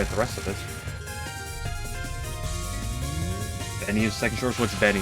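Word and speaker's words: 紅: Japanese people shorten the game to just the first kanji. Well, okay, and sure, I'm supposed to know that the first kanji is pronounced Benny.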